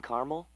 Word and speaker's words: caramel: The caramel, please. The what? I'd like it in caramel. Oh, the caramel? Yeah, that's what I said, Tina. Actually, you said caramel when it's pronounced caramel.